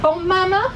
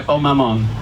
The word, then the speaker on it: Bon Maman: 4 matching coasters and a pot of, is it Bon Mama jam? Yeah, Bon Maman. Yeah. Very nice. Well, you see, I always thought it was bon maman, but it's spelled M-A-N at the end.